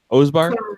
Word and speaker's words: Osbahr: Osbahr?